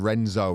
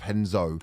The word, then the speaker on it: Renzo: front of some Brazilians calling him Renzo instead of henzo it's like the difference between khabib and Habib yeah yeah yeah comes